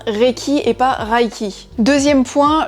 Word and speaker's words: Reiki: donc déjà premier point recchi se prononce bien recchi et par haïti deuxième